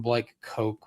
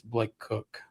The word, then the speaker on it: Blake Cook: I was like trying to find out that you uh you called him Blake Coke when it's Blake Cook.